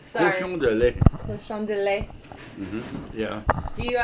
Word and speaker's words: Cochon de Lait: You got to pronounce it right. Sorry. Cochon de Lait.